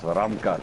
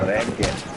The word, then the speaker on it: Ramkat: Oh, we got Ramcat with a shotgun. Let's get into that action. It's Ramkat, eh? Okay, there we go. The proper. Ramkat. Just gotta pronounce the R.